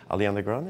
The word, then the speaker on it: Ariana Grande: like, have a hard time saying her name, Ariana Grande, is that how you say it? That's right, you got it. Ariana Grande?